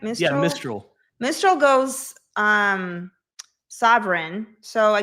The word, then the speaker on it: Mistral: Am I pronouncing it right? Mistral? Yeah, Mistral.